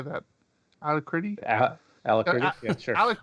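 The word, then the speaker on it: Alacritty: Alacrity? Alacrity? Yeah, sure. Alacrity.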